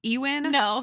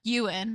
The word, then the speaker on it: Ewan: his name right e Ean Ean McGregor euan Yan McGregor yan yan yeah is it Yan yes oh my God okay it looks like Ean and it never makes